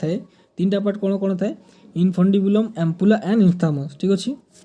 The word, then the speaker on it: infundibulum: Next point देखंतु फालोपियन tube have 3 part इनफंडिबुलम INFUNDIBULUM ठीक अछि जदि दिसु नै मु आपन को प्रोनाउंस कर दोछि इनफंडिबुलम अम्पुला एंड इंस्थामर ठीक अछि एटी एच पर आपन यू लिखिबे ऊपर मु एटा कर देछि।